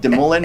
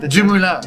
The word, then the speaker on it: DeMoulin: DeMoulin, or how did you want me to pronounce it? DeMoulin, but you want you like. Any way I like. What was the French accent? DeMoulin.